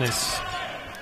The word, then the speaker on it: Panis: How do you say Panis? His last name? Panis.